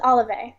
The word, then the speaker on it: Olivae: I could talk um the correct pronunciation is olive olive excellent all right